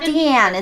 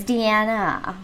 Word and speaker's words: DeAnna: I want to spell that because, it's not Deanne, it's Deanna. Deanna.